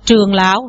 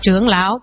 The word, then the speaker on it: trưởng lão: Chứ nhìn là hai chữ giống nhau, bây giờ mình đọc trường lão là thấy nó không được, đọc là trưởng lão.